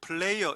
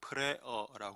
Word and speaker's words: Prayer: 이 플레이어 이렇게 발음하면 안 됩니다. 플레이어는 노는 사람을 말하죠. 프레어라고 발음해야 돼.